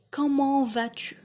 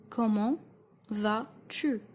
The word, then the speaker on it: comment vas-tu: When you say comment vas-tu? Comment vas-tu? Comment vas-tu?